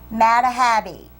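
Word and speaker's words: Madhabe: was uh painted by Alan I got to pronounce it right m a d h a b e mahabi Alan mahabi he is a uh uh where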